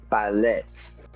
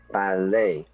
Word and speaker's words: ballet: So, we don't go to the ballet, we go to the ballet.